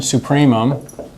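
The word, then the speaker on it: supremum: because there's only one supreum of a exists we call it sup a okay and that's a long u right as in supreum which comes from Latin Likewise, if a has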